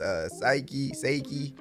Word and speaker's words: Saiki: Last episode, brother Ippo got the dub against Saiki. Yeah, that's how you pronounce his name.